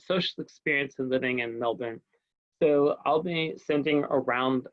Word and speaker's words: Melbourne: in Australia, you know, the R is silent in many words, so it's not Melbourne, it's Melbourne. And if you want to